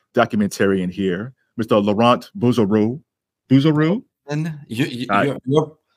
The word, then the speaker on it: Bouzereau: a very distinguished documentarian here Mr laurant buero buero your pronunciation is is perfect I've you and my